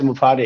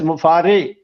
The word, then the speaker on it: Mufareh: My name is एस मुफारे। हम लोग मुफरा बोलते हैं, मुफारा बोलते हैं, कुछ बोलते हैं, but actual name is एस मुफारे। हाँ, लास्ट में रे निकलना चाहिए हमारे।